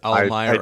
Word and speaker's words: Almyra: it's spell you also every time you said almyra I think you pronounced it slightly differently it's almyra I did I knew